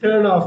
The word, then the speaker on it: turn off: டேர்ன் ஆஃப். அந்த ஆர் வந்து உச்சரிக்க கூடாது.